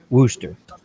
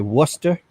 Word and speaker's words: Worcester: Some people call it rooster, like almost kind of like a chicken. They pronounce it like an R instead of a W. And some people say Worcester.